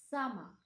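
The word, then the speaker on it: summer: গ্রীসম্য এর ইংলিশ হচ্ছে সামা সামা খেয়াল করে শুনুন এটির সঠিক উচ্চারণ সামার নয় সামা আপনারা নিশ্চয়ই ভিডিওতে দেখতে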